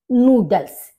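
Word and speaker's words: Nudel: नूडल, नूडल, noodles. यहाँ पर double O आ गया, यहाँ पर ऊ, इसको यू को ऊ बोला जाता है, तो नूडल और नूडल्स।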